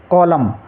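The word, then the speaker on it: column: एन को silent रखते जैसे कॉलम कॉलम में आखिरी अक्षर एन है उससे पहले एम है तो यहां पर एन को हम उच्चारित नहीं करेंगे इसको ओनली हम कॉलम पढ़ेंगे क्या पढ़ेंगे कॉलम ऐसे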